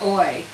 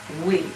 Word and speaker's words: oui: teach you a French word all right it's o u i o u i all right that's how you spell it oui okay oui is pronounced wheat it is not oi it's we yay I'm so glad you remembered it Denise